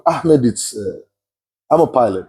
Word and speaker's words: Ahmed: Because the way you pronounce it is like, ooh. I don't think Jeremy is gonna survive this one. AKA Ahmed. Yeah, it's softer. Ahmed.